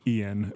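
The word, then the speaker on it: Eoin: the the author uh I believe his name is pronounced Ian but it's like e i o n or e o i n he's Irish um Ian kuler E I O um it might be yoan or something yeah but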